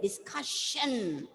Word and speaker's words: discussion: But when you pronounce, you take it as one. You don't say discussion. It's discussion. Discussion. C-U. The ka should be stressed, and shan.